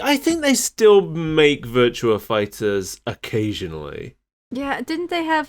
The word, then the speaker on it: Virtua Fighter: That's how it's pronounced. Okay. It's like Monster Hunter Double Cross. It's Virtua Fighter.